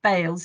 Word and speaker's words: Bales: So I'm going to now hand over to John Bales. Is that the right pronunciation, John? It is, yes.